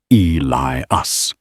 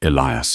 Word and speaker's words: Elias: Elias Carter Thorne said mispronouncing the first name deliberately as Eli us. It's Elias.